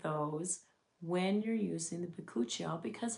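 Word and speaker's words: Bakuchiol: And a lot of people have a hard time pronouncing this name. It's it's called Buchial.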